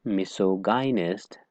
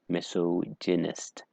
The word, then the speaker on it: misogynist: Now, the right pronunciation is not misogynist. The right pronunciation is misogynist.